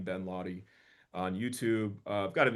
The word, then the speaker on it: Laude: It's just my name, Ben Lahy, on YouTube. I've got an Instagram, too. I'll sometimes spell my name phonetically, L A W D, so it's clear how to say it.